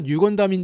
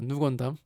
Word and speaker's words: 누 건담: 사람들이 이게 새로운 건담이라서 뉴 건담인 줄 알았었죠. 근데 사실은 이건 누 건담입니다. 누 건담. 뉴 건담이라고 발음하는 사람도 있고 누 건담이라고 발음하는 사람도 있고.